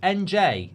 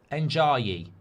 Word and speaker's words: Ndiaye: Ndiaye is how you pronounce his name. Ndiaye Ndiaye Um So, look, I think I think I'd